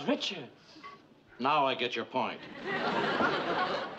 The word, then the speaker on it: Richards: Rickards. You said Rickards. I don't get your point, Mr. Her name is Richards.